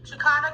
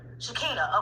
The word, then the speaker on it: Shakina: Shakana, can you see the whiteboard? I hope that's how you say it. Is that how you say it? Is it Shakina? Shakina, okay. Kinda?